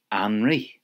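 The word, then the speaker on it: anraith: And soup is anri.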